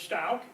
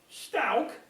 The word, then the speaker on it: Stouch: about that here is an 1850 map that says L Stout so there they're pronouncing it stout and this is the